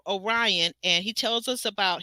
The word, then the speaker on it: Orion: Orion I'm sorry Orion it it spelled like it looks like it would be orian but it's Lauren and Orion now Lauren is third